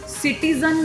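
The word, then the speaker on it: citizen: उसके बाद सिटीजन में जो साउंड है दैट इज नॉट ज साउंड, दैट इज बेसिकली ज साउंड. सिटीजन, सिटीजन नहीं, सिटीजन.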